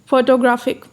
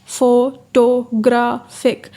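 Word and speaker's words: photographic: मिसाल दिया है फोटोग्राफ फोटोग्राफिक अब उनका कहना है we find primary stress is on third syllable इसमें जो थर्ड सिलेबल है फोटोग्राफिक ग्रा इसमें थर्ड सिलेबल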